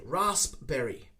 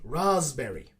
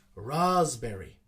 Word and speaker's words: raspberry: here and they say raspberry raspberry but again this one is not pronounced with the s and the p actually we use a z sound in this one so we say raspberry raspberry so the sp sound